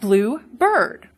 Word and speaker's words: bluebird: And I say, oh, look at that blue bird. You'll hear the difference in stress. In bluebird, the compound, stress is on the first syllable. The second one is unstressed.